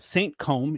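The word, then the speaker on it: Saint Cosme: This is called Saint Combe. It is a Côte de Rhône from the southeastern part of France. Saint Combs, like is that like Puffy Combs? Kinda, except it's spelled Cosme.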